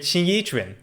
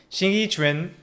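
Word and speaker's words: 形意拳: I'm going to demonstrate Xing Yi Chuan. Xing Yi Chuan, or Xing Yi Chuan, as people often pronounce it, is one of the other martial arts which I have been practicing for many years.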